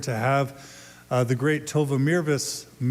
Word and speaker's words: Mirvis: have the great Tova Mirvis. I'm told it's Mirvis. It rhymes with nervous.